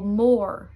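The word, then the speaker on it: mór: But if the O had a fada in a word, then you pronounce it like O. For example, more, which means big.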